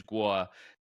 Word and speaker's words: Guo: The guy's name is Guo Wen Guuay and his last name is Gua in Chinese and in English he uses the name Miles Gua and he was a